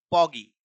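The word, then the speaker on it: podgy: पोगी। इसको क्या पढ़ोगे मेरे भाई? पगी। डी को साइलेंट रखना है।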